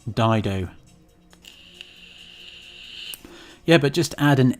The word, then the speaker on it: Dido: Dido.